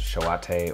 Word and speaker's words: Shoate: it is s-h-o-a-t-e uh both of which i believe have the long e at the end so yeah um that